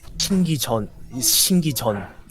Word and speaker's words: 신기전: And how do you pronounce the other one? It's a little strange because the actual Korean word is 신기전, but it's written as 신기촌.